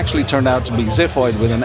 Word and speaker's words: Ziphoid: And also interesting thing especially uh British people they think it's is pronounced zyoid in that sense but I felt zyoid is clumsier than zifoid in in a way.